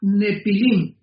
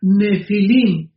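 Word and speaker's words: Nephilim: La palabra gigantes es la palabra nepilim n de Nancy y ph intermedia. Nepilim se pronuncia nefilim en el original hebreo.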